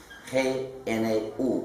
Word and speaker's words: GNU: Se llama GNU, G-N-U, pero se pronuncia normalmente GNU.